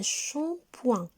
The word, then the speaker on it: shampoing: maintenant les enfants qu'est ce que c'est un shampoing un show points le mot shampoing s'écrit avec les lettres shamikh1 points il se